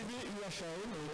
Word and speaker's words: Wuhan: En Chine, Wuhan, ça s'écrit W-U-H-A-N, ça se dit comment?